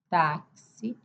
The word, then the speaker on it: táxi: Nós temos também outra palavra táxi, que se escreve com X é de KS.